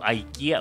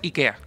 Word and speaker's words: IKEA: Oye, y se supone que la cosa está mala, pero no sé si cacharon que abrió IKEA o IKEA, IKEA.